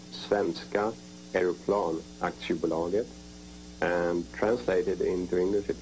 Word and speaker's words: Svenska Aeroplan Aktiebolaget: Saab, that is four letters, S-A-A-B, and it stands for, in Swedish, it's pronounced Svenska Aeroplan Aktiebolaget, and translated into English,